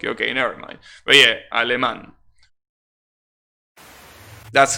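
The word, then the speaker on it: alemán: mean sherman is alimon is aleman that's how you say it almost just drop the ghost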